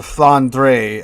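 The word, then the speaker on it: Flandre: friend ships at or the fondre as it's properly pronounced something like that right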